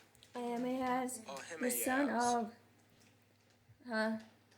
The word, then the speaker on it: Ahimaaz: So the watchman said, "I think the running of the first is like the running of the How to pronounce Ahimaaz? Ahimaaz, the son of Huh?